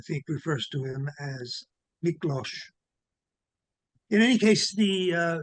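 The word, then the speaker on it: Miklós: to my rescue again that's miklo again the S is as an sh and the last name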